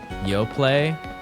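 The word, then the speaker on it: Yoplait: Yo, play. The T is silent.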